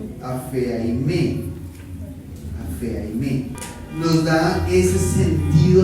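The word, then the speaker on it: ἀφίημι: Y entonces esa palabra, perdonan de todo corazón, es una palabra griega que es súper difícil de pronunciar: apheaime.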